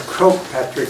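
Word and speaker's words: Croagh Patrick: is all good um and how do you pronounce the name of the mountain it's quote Patrick which is Crow is the Gaelic word for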